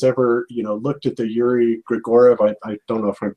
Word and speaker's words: Gagarin: if anybody has ever, looked at the Yuri Gagarin, I don't know if I'm pronouncing the last name right. Gagarin, yeah.